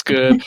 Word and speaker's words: Goode: listeners who don't know your last name is spelled g o de you probably say my name is Mrs good I understand that there